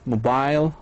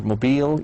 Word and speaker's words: mobile: Now, our new one is adventure, mobile, or mobile. You can pronounce it either way.